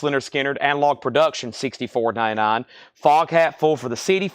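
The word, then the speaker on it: Lynyrd Skynyrd: Otis ratings $ 59.99 linard Skinner pronounced ler Skinner analog production $64.99 fog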